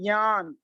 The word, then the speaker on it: ज्ञान: महाराष्ट्र के और कर्नाटक के बॉर्डर से लगे हुए जो भी श्रावक बंधु हैं, वो इसका सही उच्चारण करते हैं ज्ञान।